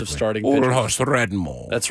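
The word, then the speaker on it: Old Hoss Radbourn: Oldhouse Radbourne.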